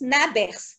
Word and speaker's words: Nabers: Cette sonde de Nabers, elle se prononce Nabers.